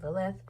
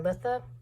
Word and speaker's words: Litha: the mini round for Lilith or litha I should say I keep mispronouncing that but I right now